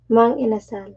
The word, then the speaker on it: Mang Inasal: How do you pronounce this? Mang inasal.